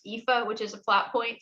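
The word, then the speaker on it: Aoife: spelled a o i f e and it's pronounced ifa which is a plot point so everybody hesitates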